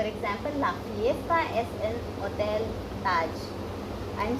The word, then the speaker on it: hotel: For example, la fiesta es en Hotel Taj. I am saying hotel. I am not saying hotel. So you remember my last video in which I told you about H is silent.